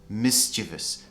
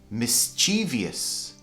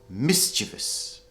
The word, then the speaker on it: mischievous: It's quite a difficult word, but it's pronounced mischievous with the stress on the first part of the word. A lot of native speakers mispronounce this and they say mischievous. Mischievous. But actually it should be mischievous.